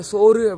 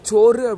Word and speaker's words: சோறு: பெரும்பாலும் எல்லாருமே இதை நீங்க சோறு அப்படின்னுதான் உச்சரிச்சிருந்திருப்பீங்க. ஆனா இத நம்ம சோறு அப்படின்னுதான் சொல்லணும்.